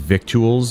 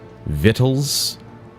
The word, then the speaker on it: victuals: word no that doesn't it's not pronounced victuals it's vittles oh yeah how long has